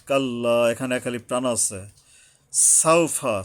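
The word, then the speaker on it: سَوْفَ: সাউফা, সা, সিন উচ্চারণে সাবধান হতে হবে।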